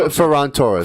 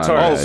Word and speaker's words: Ferran Torres: Ferran Torres. Ferran Ferran. Torres.